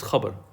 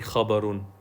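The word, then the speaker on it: خَبَرٌ: Or actually, we say khabar, but it's actually technically khabarun. Yeah, it's khabarun. We say khabar, but it's actually technically the way you pronounce it, if you look in the book, is khabarun.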